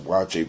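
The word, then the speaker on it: waakye: I want to look at watching each they pronounce it watch it but it's spelled waa Kye is uh it's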